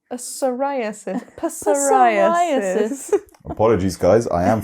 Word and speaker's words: psoriasis: I have to use another word with a with a silent P psoriasis pis apologies guys I